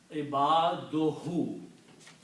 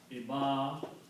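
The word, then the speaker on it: عِبَادُهُ: So when you combine these two, you pronounce only one dhamma here, so it becomes ibaduhu. Okay. So the word becomes ibaduhu.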